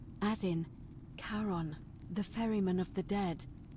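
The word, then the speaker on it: Charon: it's just as you described it only your pronunciation is a little off the name you heard wasn't Karen it it was c h a r o n as in karon the Fairman of the Dead karon who in exchange for the right coin helps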